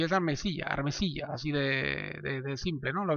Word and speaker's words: Armesilla: Es claro, ahora lo voy a intentar Armesilla, ¿vale? Lo voy a intentar porque tengo tendencia a llamarlo Armencilla, no sé por qué. Y es Armesilla, así de simple, ¿no?